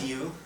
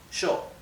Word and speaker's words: yo: group vosotros okay good now let me remind you that in Argentina and in Uruguay those two